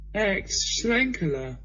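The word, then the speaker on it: Aecht Schlenkerla: So I found a beer, and it's pronounced Ex-Schlenkerler.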